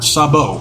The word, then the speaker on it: Sabo: Got Gia Miller, got Tommy Dreamer, got Dave LaGreca, and then we have Snake Sambo, or Sabo, that's how you say it.